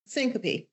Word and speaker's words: syncope: even mispronounce it, but syncope syncopy. Yes, syncopy.